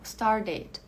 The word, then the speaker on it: started: Aqui, como eu tenho a pronúncia, eu tenho esse T no final, eu não consigo pular desse T para um D de uma forma mais suave, digamos assim. Então, eu preciso pronunciar esse D aqui, esse E, nem que seja de uma forma suave.